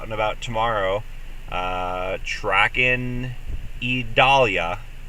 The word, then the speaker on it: Idalia: about tomorrow uh tracking idalia three syllables and we'll keep you